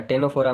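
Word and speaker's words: Ctenophora: यहां पे टेनोफोरा है टेनोफोरा में यहां पे भी क्या है? सी साइलेंट है।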